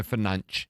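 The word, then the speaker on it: Fernandes: Bruno Fernanch that's how you say it by the way is my Patty's performer of the week.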